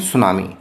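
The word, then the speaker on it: tsunami: ए सुनामी यहां देखिए सुनामी की स्पेलिंग है। टी से शुरू हो रही है। लेकिन यहां टी साइलेंट है। इसलिए इसको टी सुनामी की जगह बोलते हैं सुनामी।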